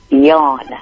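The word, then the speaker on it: Jon: Unlike the John that works for you, I know it is spelled that way, but it's pronounced different. How is it pronounced? Yawn. Yawn, okay.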